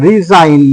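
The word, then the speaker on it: resign: নিতে যাই যেমন এরকমও রিজাইন লিখতে যদি চাই রিজাইন রিজাইন দেখো এখানে রিজাইন রিজাইন। তাহলে এখানে বুঝতে পারলাম যে জি এর পরে যদি এন থাকে তাহলে কিন্তু জি এর উচ্চারণ হবে না।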